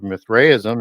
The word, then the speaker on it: Mithraism: And Mithra is one of the gods of Mithraism, or Mithraism, as some people would also pronounce it, which was one of the most